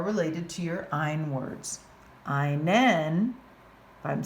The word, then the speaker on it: einen: If I want to say he's wearing my belt, einen rhymes with meinen.